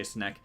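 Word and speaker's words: Snake: Yes, I say Snek. Don't argue with me. That's how you say it.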